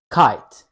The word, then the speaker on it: kite: the I sound in kite here is a tip when you say kite the I sound is actually a diphthong which means it's a combination of two vowel sounds ah and a so